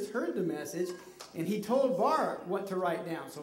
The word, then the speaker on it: Baruch: We have Baruch. No, that's not Baruch. It's Baruch.